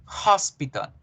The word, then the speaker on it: hospital: que yo debo pronunciar entonces miren debo decir hospital hospital la h suena en este caso y por qué les